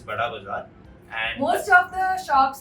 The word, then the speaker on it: Bara bazaar: It's written in Bara bazaar, but it's pronounced as Bada bazaar.